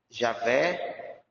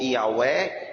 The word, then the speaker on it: Javé: O nome divino, vou pronunciar aqui, porque tenho que pronunciar para vocês saberem. Javé, esse é o nome dele. Ou Yahweh, na forma hebraica.